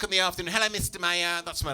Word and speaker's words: Maier: But, I actually thought those were the two pronunciations, Maier, Maier. I'm wrong, Sheffield. It turns out there's a third pronunciation, Maier or Maier.